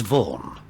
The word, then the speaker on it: Vaughn: that name before repeat that please my surname's Vaughn sorry could you repeat that please warm Vaughn how do you spell that v-a-u-g-n oh yeah repeat that please vom